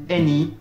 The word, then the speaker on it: any: Attention aux exceptions, par exemple, le A se prononcera A dans yacht, ou encore O dans wrath, et A se prononcera E dans Thames, any, ou encore many.